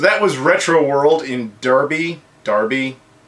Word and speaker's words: Derby: 2 years ago, I went to this same store, and afterwards, I said it was pronounced Derby, and it was pronounced Darby.